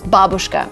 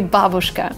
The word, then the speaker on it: babushka: don't know why but a lot of English speakers say it this way when originally the word is babushka this means the old lady and maybe it's just natural for English native speakers to stress the second part of the word but it's originally babushka looking forward to reading